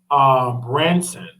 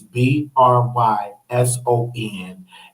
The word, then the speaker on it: Bryson: Okay, his name is Tommy Branson. That's Tommy Tommy Branson BRYSON. So I follow him. That again, his channel name is Tommy Tommy Branson. I believe that's how you pronounce his last name. It's BRYSON, and I watch him a lot.